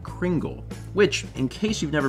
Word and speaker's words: Kringle: remembered you guys like Kringle which in case you've never been told is pronounced with a soft G like in thing Danish is weird and